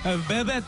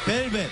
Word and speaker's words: 벨벳: 약간 베벳 느낌. 아, 베벳? 예, 베벳 스타일이 예. 뭐, 네, 이번 의상 컨셉이군요. 아, 베벳 예. I'm sorry. 베벳이 맞는 네, 발음이죠? 예, 예. 벨벳.